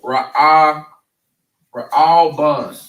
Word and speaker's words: Reuben: All right, so now they're pronounced in the Hebrew Ra'ah, Ban. Just like that, Ra'ah Ban. And what that means is, behold a son.